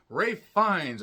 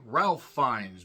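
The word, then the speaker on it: Ralph Fiennes: projects and the Stars Ray fines I keep wanting to say Ralph fines because that's how it's spelled he plays Lawrence who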